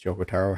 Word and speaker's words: Yoko Taro: I believe it's Yoko Taro, how it's pronounced.